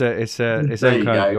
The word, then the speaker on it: Nkunku: Nobody knows who I'm talking about because I can't pronounce it. But Nkunku, it's Nkunku, I know, but yeah, just have a look at his price.